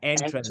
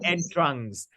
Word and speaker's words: entrance: okay yes yes but can you pronounce it more correctly yeah entrance not and Trunks and this is not French yeah this is not